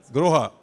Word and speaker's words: Grohe: Gaurav Malhotra, the Managing Director of Hans Grohe, how do you pronounce it? Groha.